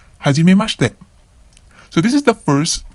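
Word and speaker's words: 初めまして: So usually it goes like hajimemashite, watashi wa dare dare desu. So notice that the I in the shi syllables becomes silent. Hajimemashite.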